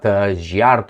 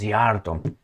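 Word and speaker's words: Szijjártó: She made sure that his name is not Giardto or whatever I was pronouncing. This is Zarto.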